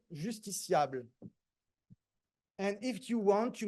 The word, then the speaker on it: justiciable: We say justiciable. And if you want to make it a little bit more grandiloquent and pretentious, you make a long A in the end, justiciable.